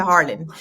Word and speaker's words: Arlyn: Si me vas a hablar en español, me dices Arlene.